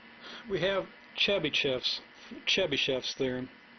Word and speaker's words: Chebyshev: But that's the way I'm going to pronounce it, because that's the way you'll probably hear other people pronounce it.